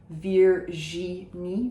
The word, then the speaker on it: Virginie: We say the je of Virginie without a j in front of it, so it's not like Virginia, it is Virginie or Virginie.